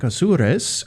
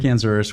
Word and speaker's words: Azures: Well, first of all, thank you for pronouncing my last name perfectly. Great Spanish. Yes, I'm Azures with Epson, part of